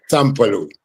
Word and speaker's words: Sampalue: So can you just share with our listeners who is S Paloo and let me know if I'm pronouncing it in the right way. Yeah. Sampaloo.